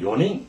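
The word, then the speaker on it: 四人: 때 요행 했잖아요 마찬가지로 사람을 셀 때도 네명은 요닝 이것만 조심하면 됩니다 따라서 사람 인자를 인자가 세 명 이후에 오는 전부다 닝 하고 발음한다 그다 한 사람 두 사람은 히토리 후다리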